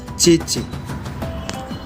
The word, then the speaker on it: Tchétché: Le T à la fin peut être prononcé, on ne peut pas aussi prononcer, c'est le parler hébreu. Mais nos ancêtres ont utilisé beaucoup le parler hébreu, donc c'est Tchétché.